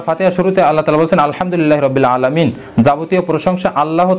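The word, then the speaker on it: الحمد: কিন্তু আমরা যদি বাংলাতে কোরআন কারিম তেলাওয়াত করি তাহলে আমরা ছোট হা এবং বড় হার উচ্চারণটা আমরা সঠিকভাবে করতে পারবো না। এরপরে যদি আমরা ভুল করে যদি আমরা বলে ফেলি আলহামদুলিল্লাহ রাব্বিল আলামিন তাহলে অর্থ হবে সকল ধ্বংস আল্লাহ তাআলার জন্য, নাউজুবিল্লাহ।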